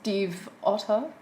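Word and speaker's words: Stiefvater: series yeah by Maggie's Steve Otto because she made a song about it cuz people kept asking how to like pronounce her last name and she was like Steve like the name Otto like like of the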